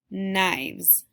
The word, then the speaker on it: knives: In this story, you're going to read some words that make the sound spelled with the letters KN, that tricky spelling. Knapsack, knives.